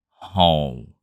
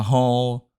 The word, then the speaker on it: Hồ: in this video we will learn how to pronounce this name in Vietnamese it's home let's get started if you're not familiar